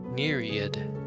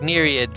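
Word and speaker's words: naiad: pronunciation it's the same so it's like NAD like Myriad like a myriad of options and stuff like that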